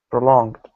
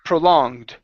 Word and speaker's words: prolonged: here in the middle the E should not make a sound okay it's prolong prolonged prolonged there you go good one more time prolonged prolonged good uh right